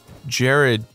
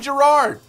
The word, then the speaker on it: Jirard: If they can fucking pronounce my name. I think that's just because people don't pay attention. Jared.